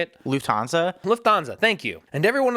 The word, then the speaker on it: Lufthansa: Lufthansa, thank you.